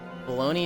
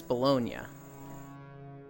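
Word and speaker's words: Bologna: the USA says it baloney is the French pronunciation and it's named after a place in Italy so the proper way is bolognia I don't know what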